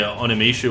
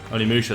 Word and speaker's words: Onimusha: Onimishu? Is that... Maybe that's how it's said? I didn't play any Tenchu, I didn't play any Onimishu, so... I did play Shinobi. That was remade on the PS2. Onimusha, that's it. I was close.